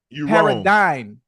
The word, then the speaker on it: paradigm: it again Paradigm oh is dyn d y NE or am I wrong paradine you no is Paradigm as diim but that's not how it's spelled it's that's how it sounds that's why sometimes the